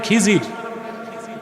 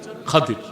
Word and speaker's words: খাদির: খাদির তো বুঝেন নাই, যাকে আপনারা বলেন খিজির, ওনার নামটা কি? খাদির, বিফাতহিল খা ওয়া কাসরিদ দাদ, খাদির। আমরা বলি খিজির, এটা ভুল উচ্চারণ, শুদ্ধ উচ্চারণ কি? খাদির।